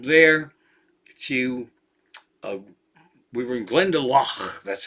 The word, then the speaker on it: Glendalough: And then we hopped from there to, we were in Glendalough.